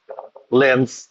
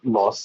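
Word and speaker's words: Lens: দুজনের চ্যাম্পিয়ন ধরণ অবশ্য আলাদা পিএসজি war Chase by লেন্স লস এটার উচ্চারণ লস আমরা লেন্সই থাকি ভাষাটা এরকম লেখে কিছু একটা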